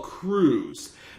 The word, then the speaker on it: Crews: And of course, Apollo's like, I guess he mispronounced his name. Apollo's like, it's Cruz. Apollo Crews.